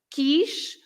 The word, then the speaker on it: quis: You don't pronounce the U. If you have the I, is also, for example, in quis, the past tense of querer, I wanted, eu